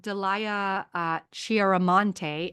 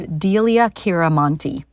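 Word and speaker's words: Delia Chante: here is Dr uh Delia uh Chante MD I'm going to pause here and quickly correct my mispronunciation her name is Dr dilia kiranti she's a paliative physician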